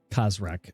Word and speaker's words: Khazrak: name now because there's rock how do you spell that by the way if it's khazrak that's what i said so it would be